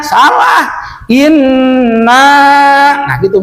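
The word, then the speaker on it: إِنَّا: Nah digitukan dulu, jangan inna salah, inna. Nah gitu bacanya tuh. Ya, jangan inna salah. Kalau dibaca inna berarti menghilangkan tasdid ataupun musadah sabdu di atas nun.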